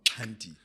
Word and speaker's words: Xhanti: correct pronunciation sure it's Cy yeah Cy so I always say to people it's like or at least for me it's a click on the left side of your mouth Cy yeah I'm going to